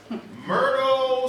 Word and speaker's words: Myrtle: Mert rhymes with dirt.